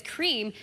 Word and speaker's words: Creme: on a packaging, so even though we pronounce it as cream, they can't spell it as cream as in C-R-E-A-M because that implies that there's dairy in it.